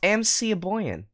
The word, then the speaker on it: Mikaboyan: But this mod was made by Mikaboyan. Pronounced MC Aboyan.